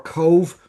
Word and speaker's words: Cobh: Anyway, so there's A for Belfast, B for Cork or Cove. That's how we pronounce COBH, or D for Dublin.